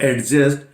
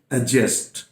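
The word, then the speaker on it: adjust: एडजस्ट करते हैं और this is नॉट एडजस्ट, this is एडजस्ट। Clear? यानी ये आप रूल मान लीजिए कि जब कभी भी ए और जे के बीच में डी आए तो यह डी हमेशा साइलेंट रहता है।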